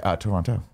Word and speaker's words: Toronto: I'd say it like the natives of Toronto. They say, Toronto. Ah, Toronto.